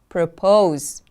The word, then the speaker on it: propose: Propose, propose. The stress is on the second syllable.